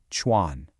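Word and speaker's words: 船: This character right here, Chuan, pronounced Chuan.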